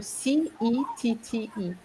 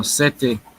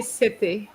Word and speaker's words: cette: So remember, CETTE has the same pronunciation as seven.